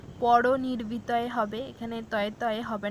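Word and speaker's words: परनिर्वृतये: তো এটা আমাদের ভালো করে মনে রাখতে হবে যে এখানে একটা তয় হবে, তয় তয় হবে না। তো এটা ঠিক করে নেবেন সবাই। পরনির্বিতয়ে উচ্চারণটা এরকম হবে।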